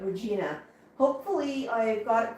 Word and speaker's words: Regina: When I'm still trying to pronounce it like the city in Saskatchewan, but Regina.